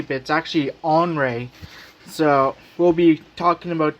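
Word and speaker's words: Henri: of course tropical storm henry uh actually it's pronounced andre uh if you actually didn't know that a lot of people think it's henry bits actually on ray so we'll be talking about that because that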